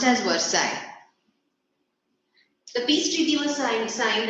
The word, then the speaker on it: Versailles: Spelling is Versailles, pronounced as Versailles. The peace treaty was signed at Versailles.